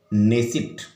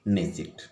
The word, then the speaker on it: Knesset: पूछा गया था, तो उसकी संसद का नाम है नेसिट, KNESSET, लेकिन हम हिंदी में उच्चारण करेंगे नेसिट।